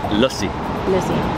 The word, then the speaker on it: lassi: And by the way, it's spelled lassi. Lassi. But it's lussi. Lucy. Yeah, people are correcting me online. They're like, you're saying it wrong, but it's all good.